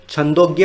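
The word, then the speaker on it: छान्दोग्य: ठीक है फ्रेंड्स, इसको आप कैसे प्रोनाउंस करेंगे? छंदोग्य उपनिषद।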